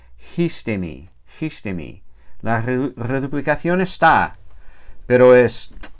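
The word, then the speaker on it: ἵστημι: Esta primera sigma desaparece y se queda ahí sola la iota. Y para compensar, la iota toma un espíritu rudo. Entonces esa palabra se pronuncia histemi.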